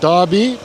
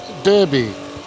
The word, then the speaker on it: Derby: to derby as i now understand it's it's pronounced not derby derby and so yeah my most expensive room on